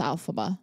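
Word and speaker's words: Elphaba: you know her name I think it's alphaba alphaba yeah or is it alphab no it's alphaba alphaba yeah like alphabet yeah but yeah but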